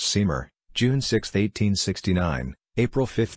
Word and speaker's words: St Maur: Marge AP DL pronounced seamer June 6th 1869 April